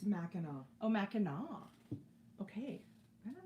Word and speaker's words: Mackinac: And it's pronounced Mackinac.